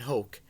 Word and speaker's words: Hoch: on Twitter at Brian Hoch H och it sounds like coke not spelled like it but it certainly sounds like it but with the Yankees